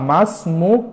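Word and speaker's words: اسم: তাহলে মাসুন মুকা বা মাসমু কি মুজাক্কার মুয়ান্নাস ভেদে তাহলে ইসমুনের আলিফটা লেখাতে আসবে কিন্তু উচ্চারণের করার ক্ষেত্রে আসবে না এই বিষয়টা আপনারা ছাত্র-ছাত্রীদেরকে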